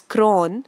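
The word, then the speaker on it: chron: chrome which means color CH ro n is pronounced as cron which means time so words from chrome are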